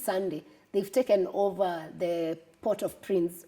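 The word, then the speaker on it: Port-au-Prince: they've taken over the port of Prince or port or Prince if you want to pronounce it the French way and they've destabilized the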